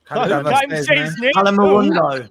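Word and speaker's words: Kolo Muani: They're like, no, there's a moo in the middle, right?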